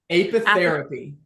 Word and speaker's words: apitherapy: Apitherapy.